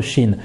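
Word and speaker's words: ش: La lettre Shin n'est pas une lettre emphatique. Donc, nous ne dirons pas Sha, mais nous dirons She. She, Shi, Shu. Pour la prononcer, elle est très facile. C'est comme le CH en français.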